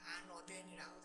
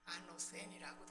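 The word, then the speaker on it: ἄνωθεν: 아노덴이라고도 하고 아노센이라고도 하고 이렇게 발음을 하는데 위로부터라고 하는 말입니다.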